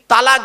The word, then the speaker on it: তলাক: গিয়ে স্বামী তার স্ত্রীকে তালাক দেয় তাই না বলুন না শব্দটা কিন্তু তালাক নয় শব্দটা তালাক নয় শব্দটা হলো তলাক কি বললাম তলাক ওর